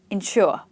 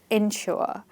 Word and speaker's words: ensure: The first thing is we stress both of these words on the second syllable. It's got to be insure, ensure and they are pronounced just the same but a little bit of difference.